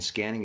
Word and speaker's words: SQANNING: emotional and mental calm it's spelled s-q-a-n-n-i-n just to kind of be different but it is referencing the concept of scanning as in scanning your